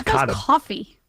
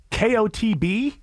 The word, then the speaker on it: Kotb: But I have too much respect for women, and my respect for Hoda Kotb. Is that how you say it? I don't know. I think it's coffee. No, Kotb. Oh, Kotb.